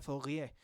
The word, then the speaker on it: Fourier: Fourier se suele pronunciar Fourier porque era un científico francés, ¿no?